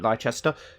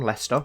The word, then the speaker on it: Leicester: yes it looks like light Chester which is how a lot of Americans pronounce the city where I'm from Leicester a lot of them always pronounce it hi Chester let's forget the claims